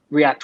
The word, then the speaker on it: React: The original name for React was F-Bolt.